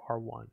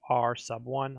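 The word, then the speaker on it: R₁: r2, to solve for r1. It's actually pronounced r sub 1. I'm just saying r1 to save myself a word.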